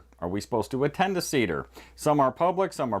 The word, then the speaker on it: Seder: But first I want to talk about the Seder. The Seder, or Seder, as some like to pronounce it, is one of the most common Jewish rituals.